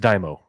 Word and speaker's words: daimyo: It's pronounced Daimo.